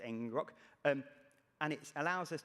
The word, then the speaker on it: ngrok: app i can use something called ngrok i think it's pronounced engine rock um and it allows